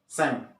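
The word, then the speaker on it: 千: ribuan ribuan itu Saint walaupun tulisannya Saint itu di lafalkan seng ada pelafalan huruf Angeles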